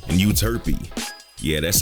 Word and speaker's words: Euterpe: Calliope, Clio, and Euterpe. Yeah, that's how you pronounce them.